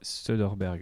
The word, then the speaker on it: Soderbergh: Et de Soderbergh, j'arrive jamais à prononcer son nom, c'est ça, c'est Soderbergh, ouais. Soderbergh, ouais.